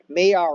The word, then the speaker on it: Maillard: So these are Maillard reactions. It's French. I know how to say it because I watch cooking shows, okay?